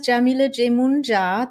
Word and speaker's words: Yamile Yemoonyah: My name is Yamile Jemunja. Maria, I guess you can hear me and see me because you're saying hello. Awesome. So my name is Yamile Jemunja. That's how you pronounce it.